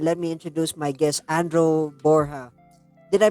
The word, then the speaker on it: Andro: correctly the first time a lot of people say Andrew or something else but yeah you you